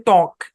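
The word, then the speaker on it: talk: রাখলেই চলবে তারপরে দেখেন টি এল কে উচ্চারণ কি এলটা সাইলেন্ট উচ্চারণ হচ্ছে টক ট্যাক না টক দেখেন একটু আগে ছিল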